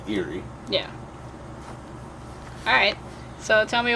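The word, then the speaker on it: Eiry: It's E-I-R-Y. But it's pronounced like something spooky. Eerie.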